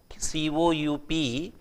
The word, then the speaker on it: coup: C-O-U-P sounds like coup, but it is pronounced as coup.